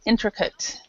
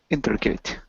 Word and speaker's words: intricate: we this H syllable right here so we pronounce it intricate intricate yeah intricate intricate so complex complicated and involved